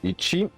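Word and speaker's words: いち: Donc lui il se prononce Ichi et Itsu.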